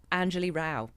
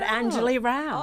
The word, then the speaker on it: Anjali Rao: I've got a British accent because of my upbringing, and apparently an unpronounceable name. It's 4 syllables. Which part? Anjali Rao.